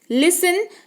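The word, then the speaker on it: listen: क्या कहते हैं लिसेन देखिए इसकी स्पेलिंग है लेकिन यहां पर जो है टीका उच्चारण आपको नहीं देखने को मिलेगा आप इसको लिसन पढ़ेंगे क्या पढ़ेंगे लिसन पढ़ेंगे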